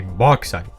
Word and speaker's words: bauxite: But I've been told bauxite. It's actually bauxite. I like to call it bauxite though, because it just sounds cooler. But I didn't actually know it was called bauxite, and I've been told this.